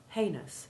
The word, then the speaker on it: heinous: ou6 sounds remember that the first syllable of heinous has a long a1 sound it is a common mistake to give it a long e1 sound and to misspell and mispronounce the second syllable by inserting an i before the ous ending as though it rhymed with genius right there off you